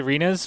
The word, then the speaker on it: Rinus: Um You know, I I feel like new fans struggle uh say Rinus because it rhymes with something that you're not supposed to say.